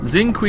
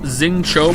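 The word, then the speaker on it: Xingqiu: Xingqi is pronounced Xing Cho, by the way.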